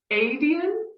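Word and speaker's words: Aedion: Adian, that's how we pronounce it.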